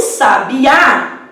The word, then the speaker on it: sabiá: Já em sabiá, a sílaba tônica é a número 1, de trás para frente.